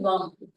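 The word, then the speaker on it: वं: वन तो वो वाला वा बा के ऊपर बिंदी यानी की वम जैसे हम ओम का उच्चारण करते हैं वैसे ही हम वम का उच्चारण ओके चलिए एवरी बडी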